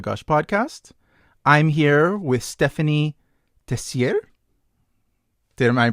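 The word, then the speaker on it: Stéphanie Tessier: I'm here with Ste phanie Tessier. Am I pronouncing that correctly? That's perfect. You pronounce it. Ste phanie Tessier.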